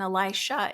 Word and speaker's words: Elisha: difference in these names and Elisha is an sh at the end instead of a Jah so Elisha this disciple or student